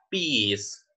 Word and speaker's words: peas: Peas. Ok, la E con la I, ahí van a sonar como, así como una I. Peas.